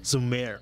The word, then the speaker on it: Zhumir: How do you pronounce Zhumir. that? Zhumir.